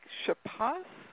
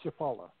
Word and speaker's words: Chapala: think it was said lake chapath is that right how do you say that lake chapala ships on the field